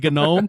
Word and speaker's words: GNOME: i know that uh the graybeard linux people the they probably are the authority on it and they say gnome so they're probably right but i i always